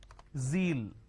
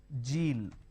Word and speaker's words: zeal: Now, what people make a mistake is they replace the z with a j. So what they do is they pronounce this as zebra, John, Jeel. So please don't make a mistake. The moment you replace the z with a j, it's a mispronunciation.